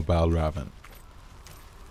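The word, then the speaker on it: Valravn: of knives to helheim pal Robin that's how it's spelled or Val Raven that's how you pronounce it anyway that's what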